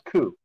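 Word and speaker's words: 九: in Japanese is pronounced as Q. Well, it's pronounced as Ku.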